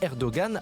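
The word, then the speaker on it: Erdoğan: débat tout de suite erdogan si vous le prononcé à la turque erdogan à la française ancien joueur de football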